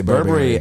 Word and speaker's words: Burberry: inspired pants inspired uh which by the way that is how you say Burberry a pattern or a